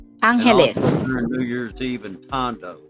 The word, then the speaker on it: Angeles: the way it's pronounced Angeles New Year's Eve and tondo yeah yeah we pronounce like a Spanish word Angeles letter G we make